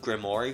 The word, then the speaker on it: Grimoire: His last name is Grimoire, but is pronounced Grimmori for some reason.